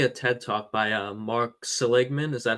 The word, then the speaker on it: Seligman: Yeah, I was watching a TED talk by Mark Seligman. Is that how you pronounce his name?